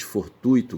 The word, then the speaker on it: fortuito: Mas a gente fala que é um desvio porque fonologicamente, sabe, ali o acento recai no u é e da sílaba ui, tá certo? Então se diz fortuito, gratuito, certo?